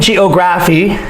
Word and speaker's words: geography: after me geography men geography geography ph remember makes the f sound like telephone so geography moment geography geography all right the stress is on the second syllable geography and so circle the